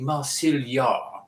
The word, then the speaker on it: Marsil Yar: It'd be Marsil Yar.